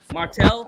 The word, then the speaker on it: Martel: get the name right how you pronounce that name Martel now you said it right Martel okay cool all right